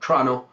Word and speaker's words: Toronto: I'm located in Toronto, or as us locals say it, Toronto. And you can always tell someone who's born in the city because they'll say Toronto instead of Toronto. So you get rid of that first O, just like who needs that?